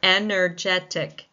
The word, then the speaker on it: energetic: So it's the third syllable that takes the stress in energetic.